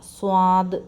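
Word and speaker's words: صاد: യുടെ ഉച്ചാരണം ഷീന് അടുത്തത് സ്വാ സ്വാദ് എന്നാണ് പറയുന്നത് സ്വാദ് രുചി സ്വാദ് അല്ല സ്വാദ് സ്വാദ് സ്വാദ് അടുത്തത് ളാദ് സ്വാദ്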